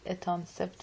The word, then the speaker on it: etanercept: اتانسپت من جایی شنیدم. اتانرسپت می نویسی، اتانسپت می خونی.